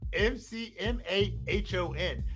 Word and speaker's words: McMahon: This guy's name is well, it's not that the H is silent. The H is just quick. Vince McMahon. So the H is very quick.